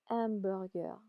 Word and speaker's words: hamburger: So in French we don't we don't pronounce the H. Amber.